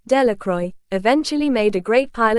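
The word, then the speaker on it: Delacroix: and Harry Jones and Dicky dequa The Villages pronounced this name Delroy eventually made a great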